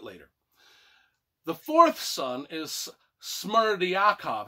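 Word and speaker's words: Smerdyakov: the fourth son is smart yakov i think i said that right it's spelled d y s-m-e-r-d-y-n k o v smarty akov he is the illegitimate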